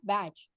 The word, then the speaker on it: Bach: तो एक यूके के एक डॉक्टर थे, डॉक्टर एडवर्ड बैच या बैच। कुछ लोग बैच प्रोनाउंस करते हैं, कुछ लोग बैक प्रोनाउंस करते हैं।